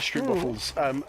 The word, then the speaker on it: stroopwafels: These stroopwafels. I love stroopwafels. The most Dutch thing you could say ever. And these are like stretchy and jammy inside, aren't they? They're like caramelly inside. I only discovered stroopwafels a year or two ago.